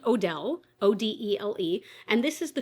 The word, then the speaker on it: Odele: And I believe it's pronounced Odele, O-D-E-L-E.